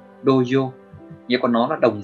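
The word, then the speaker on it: 童謡: Cách đọc của nó là doyo, doyo.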